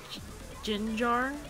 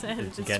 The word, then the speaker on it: Gengar: Ginger? I guess that's how you say it. It's Gengar.